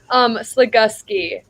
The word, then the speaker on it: Slagoski: Slagoski. So it doesn't Slagoski. have a U at all, but it makes like the Gus sound.